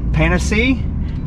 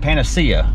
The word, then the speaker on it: Panacea: might as well hear how we think it's pronounced. Also, I say it was Panacea, and the guy in this building right here said Panacea.